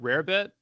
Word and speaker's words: rarebit: go make Rarebit folks, how do you pronounce it? Is it rabbit, Rarebit? How do we say it? I think you're right. Rarebit, yeah. Okay, Rarebit, yeah. You're about right, yeah. So, but I mean, I